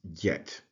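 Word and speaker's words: ḏt: walking stick which is transliterated uh with djt or transliterated dj- T and pronounce Jet and it is associated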